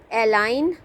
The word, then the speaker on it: align: Align, G is silent.